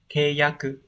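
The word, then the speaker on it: 契約: Hán tự là chữ khế và chữ ước, như vậy khế ước sẽ đọc là keyaku.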